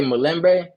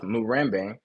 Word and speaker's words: Murembe: That is how I speak, but other ethnic groups would speak the same word with different pronunciation. For example, they would say Mulembe instead of Murembe and Tawe instead of Dawe.